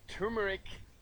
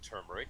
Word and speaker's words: turmeric: Okay, turmeric, some pronounce it turmeric. That's kind of the habit that I've fallen into, even though, as you and I were discussing, apparently it is the silent R in turmeric that is emphasized here.